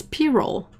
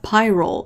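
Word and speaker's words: pyrrole: how we say payroll no it's p-roll it's not pyrol it's p-roll but yeah they write it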